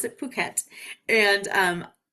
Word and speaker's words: Phuket: And they pronounce it Phuket.